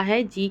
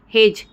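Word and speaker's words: hedge: क्या करते हैं एज हेज एच ई डी जी ई हेज तो हम हेज में क्या कर रहे हैं दोस्तों ई का प्रोनाउंस नहीं कर रहे वैसे ही वेज में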